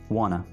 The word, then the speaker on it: wanna: Want to को अंग्रेज कैसे बोलेगा? wanna।